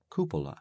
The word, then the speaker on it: cupola: round how do you say it koopa koopa koopa yeah ka I